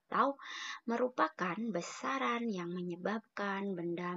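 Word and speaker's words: τ: Nih simbolnya tau. Ini dibacanya tau.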